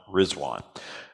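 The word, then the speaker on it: Ridvan: doesn't look like rizwan it's spelled r i d v an but it's pronounced rizwan Declaration of rizwan near Baghdad and again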